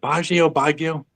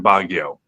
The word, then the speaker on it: Baguio: Is it Baguio? Baguio. I always pronounce it wrong.